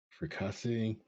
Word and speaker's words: fricassee: Fricassee, and even my gooey duck and cream sorbet, my dishes were the talk of the town.